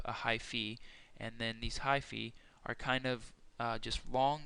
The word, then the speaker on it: hyphae: Hyphae, that's pronounced hyphae, and each hypha is only one cell thick.